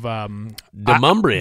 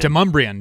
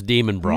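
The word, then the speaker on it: Demonbreun: I mean, shout out to Tin Roof Nashville off of Demumbrian. Demumbrian, yeah. I thought it was Demon Braun. Me too. Yeah. Didn't know how to pronounce it, but so it's not Demon Braun Street, yeah.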